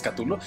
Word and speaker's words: Cthulhu: Bueno, así lo tiene miles de formas de pronunciarlo, pero es Cthulhu, y creo que es el dios más conocido de todos.